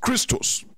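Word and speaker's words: Χριστός: Christ comes from the Greek word called pronounced Christos. Pronounced Christos means the anointed one.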